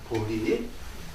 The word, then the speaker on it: 보리: 보제라고 읽지 않고 이거를 보리라고 읽습니다. 보리.